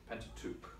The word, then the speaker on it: Pentateuch: Greek name the en ta te u CH Pentateuch okay so question number nine is how is